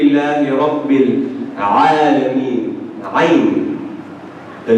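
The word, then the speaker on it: ع: When they put it further beyond, what happens? You struggle, yeah? Say ah. That's ayn for you. You're pronouncing ayn perfectly.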